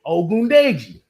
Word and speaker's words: Ogundeji: Konvo Ogundeji.